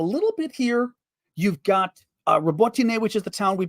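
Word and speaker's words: Robotyne: CNN interviewed a Ukrainian officer who said the area between the villages of Robotine, which I've been pronouncing correctly, more or less, Robotine, I'll do it that way, Robotine, and Verbove, who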